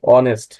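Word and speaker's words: honest: এর মত উচ্চারণ হয়েছে মাঝেমধ্যে এই এইচ এর পরে যদি ও থাকে তাহলে এই এইচ টা সাইলেন্ট থাকে যেমন অনেস্ট এইচ এর পরে দেখুন ও আছে অনেস্ট অনার্স অনার আই এটি রসই এর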